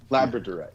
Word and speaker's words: Labradorite: Is that how you pronounce it? Labrad or Labrador riot stone. Labrador. Yeah. A lab Labradorite.